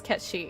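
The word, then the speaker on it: Cait Sith: And people don't even know it's pronounced as Cat Shi.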